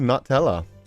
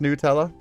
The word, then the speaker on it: Nutella: Yeah, no, I always thought it was Nutella. Yeah, Nutella. Because it was like nut. It made sense to me. But yeah, I've always heard Nutella from other people. They said it's pronounced Nutella.